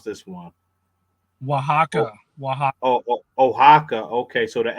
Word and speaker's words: Oaxaca: You can also access Costa Chica from I don't know how to pronounce this one. Oh, Oaxaca. Oaxaca.